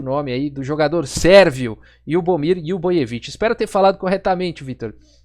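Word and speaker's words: Ljubomir Ljubojević: Muito obrigado, Vitor Viola, um amigo meu, rapaz de cultura ímpar aí, e me ensinou a pronunciar corretamente o nome aí do jogador sérvio Lyubomir Lyuboyevich.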